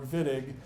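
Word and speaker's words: Wittig: synthesis so behold the viig reaction uh we organic chemists pronounce the W like the German speakers would if you want to call it the whittig reaction we will smirk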